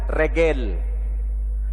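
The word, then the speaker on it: רגל: Makanya kalau bahasa Arabnya itu rijil, kaki, mereka menyebutnya regel.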